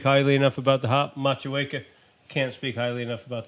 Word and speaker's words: Motueka: Machueca, can't speak highly enough about the hop. Yeah, Machueca. Thank you very much for pronouncing it correctly, because we were trying to